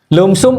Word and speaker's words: lumsum: Jangan bilang lamsam ya, sudah berubah. Lumsum dulu memang lamsam karena tulisannya L U M P S U Mc lamsam. Sekarang L M SU M bacanya lumsum.